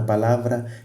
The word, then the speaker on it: palavra: Por exemplo, palavra, palavra. Então, aonde que tu fazes mais esforço? É na sílaba lá. Então, a sílaba lá é uma sílaba tônica, porque é aí onde tu gastas mais energia.